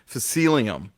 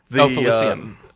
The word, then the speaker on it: Felicium: I thought it was containers of, and I can't remember if I'm pronouncing this correctly, Facilium. Felicium. Felicium, thank you. Yes. Much better pronunciation.